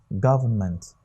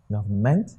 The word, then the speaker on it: government: Government. Not government, but what? Government. That means the stress is on the first word syllable here.